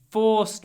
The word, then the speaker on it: forced: They forced me to do it. They forced me to go with them. They forced me to tell them everything. Forced. It's an or sound, double sound. Or. Forced. Forced.